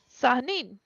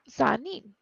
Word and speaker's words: Sehanine: Sahanin is spelled Sehanine. N as in Nancy. Sahanin.